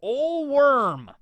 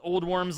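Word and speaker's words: Ole Worm: looked him up and I guess that is how you pronounce his name I mean it's probably like an old Latin way to pronounce it but I'm just gonna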